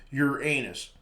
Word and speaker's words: Uranus: in serious science video narrators often do pronounce him your anus some pronounce him uranus which is little improvement since that sounds like something that belongs in the toilet a much better pronunciation would be our anos which is close to the ancient greek word it came from perhaps the correct pronunciation is your onness however his discoverer william